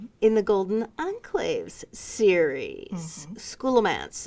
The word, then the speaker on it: Scholomance: Scholomance. Is that how you pronounce that? It's Scholomance. Scholomance.